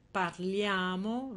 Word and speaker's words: parliamo: Voi partite loro partono una cosa da notare è l'accento nella prima persona plurale noi e nella terza persona plurale loro Noi parliamo vediamo partiamo cioè nel noi l'accento sarà sempre su questo ia e loro parlano vedono partono cioè nel loro l'accento sarà sempre sulla terzultima questo perché Perché la